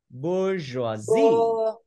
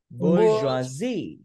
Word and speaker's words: bourgeoisie: Trọng âm thứ hai đọc vô chữ. Chữ bour, vậy thì mình đọc là bourgeoisie. Bourgeoisie.